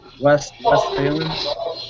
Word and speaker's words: Westphalen: Oh, Westphalen. Westphalen? Yeah, it's German.